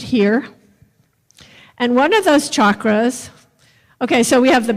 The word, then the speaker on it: chakra: it is a Sanskrit word and it is chakra so that's how you pronounce it and these are the seven major